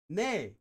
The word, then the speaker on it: 네: Nay.